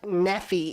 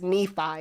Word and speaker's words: Nephi: It's not Nephi, it's Nephi.